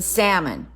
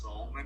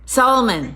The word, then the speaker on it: Salmon: where they don't really get to know Salmon? Yeah, it's pronounced Salmon. Salmon.